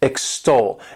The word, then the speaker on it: extol: This word has 2 syllables, and the stress is on that second syllable, extol.